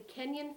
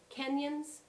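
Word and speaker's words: Kenyon: you also mentioned to me um the the kenyan family that apparently were descendants of joseph corn who is it kenyans you better spell it for me k-e-n-y-o-n oh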